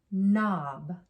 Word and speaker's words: knob: that's a knob but the word knob has a quiet k in the beginning has that ghost letter